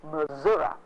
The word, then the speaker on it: Missouri: Those of us who live here and who pay taxes here have a certain inalienable right to say Missouri, and that's what it is.